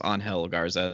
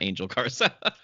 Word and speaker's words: Angel Garza: out to me that we've both been uh mispronouncing his name it is angel garza not angel carson wow that's a big